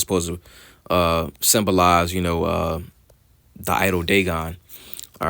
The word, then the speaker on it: Dagon: into the house of Dagon and set it by Dagon," in which Dagon, it was an idol. All right, and it will be pronounced Dagwan.